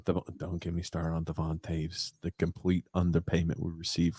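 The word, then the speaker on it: Devon Toews: Does his name rhyme with Sanan Naves? Yep, Devon Taves.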